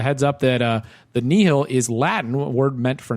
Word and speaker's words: Nihil: up that uh the knee hill is latin word meant for nothing and you pronounce it knee hill which is very helpful